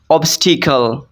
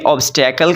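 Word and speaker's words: obstacle: Next word है ऑब्स्टिकल। इसको हमारे यहाँ कंट्री पाकिस्तान में ऑब्स्टेकल कहते हैं, लेकिन इसको the exact pronunciation of this word is ऑब्स्टिकल, ऑब्स्टिकल।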